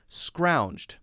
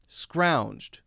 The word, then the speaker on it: scrounged: a one syllable word yes scrounged is a one syllable word scrounged scrounged it's not scrounge it'd if it were scrounge it'd hmm hmm that would be two syllables it's not it's scrounged hmm so many letters